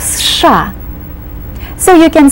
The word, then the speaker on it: США: And you pronounce it as one syllable. You start with a strong S sound, then you do the SH sound, and you complete it with an A. США.